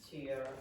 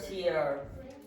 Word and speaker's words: tear: Yes, but how do you pronounce the first word? Tear. How do you pronounce that? Tear. So you have to be careful. the word tear has the same orthography, the same spelling, but this is tear.